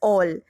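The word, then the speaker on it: -ol: Okay guys, and we pronounce it as all.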